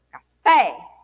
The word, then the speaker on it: café: Café, pé. Fé é mais forte do que o K, né?